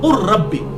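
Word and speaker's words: قُلْ رَبِّ: इलमा ये वैसे है व कुर रब्बी लफज़ है कुल रब्बी लेकिन ये र जो है इसके साथ डायरेक्ट काफ मिल जाएगा लाम बीच में साइलेंट हो जाएगा अरबी लिंग्विस्टिक के उसूल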